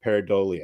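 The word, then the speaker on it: pareidolia: of seeing something in the clouds it's called peridia if I'm pronouncing that right paradia yes you are uh so uh so that's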